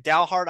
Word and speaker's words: Dalhart: So if I'm pronouncing this right, Dalhart ISD, right?